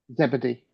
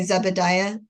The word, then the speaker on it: Zebedee: Zebedee. They don't say zebedia. No, zebedee.